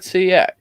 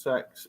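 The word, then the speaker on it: CeX: always wondered like because i always just said cx i'm like i don't because you assume it's not sex don't you yeah you assume it's not gonna have you're not gonna have a shot called sex but no it's pronunciation is sex and they think it's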